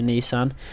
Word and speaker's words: Nissan: It was a Nissan, as the Americans say, Nissan, but it was not a Silvia.